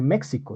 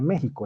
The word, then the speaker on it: México: De hecho, la X, ustedes me imagino que conocerán la X, no se pronuncia así, ¿no? Uno no dice México, estaría mal dicho, se dice México, es decir, todo lo que se escribe con X se debe pronunciar con J, y eso tiene una razón de ser, ¿sí?